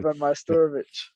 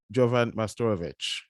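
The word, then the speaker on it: Jovan Majstorović: I'm here with my guest, I will keep make sure I pronounce it properly. Jovan Majstorovic. Jovan Majstorovic.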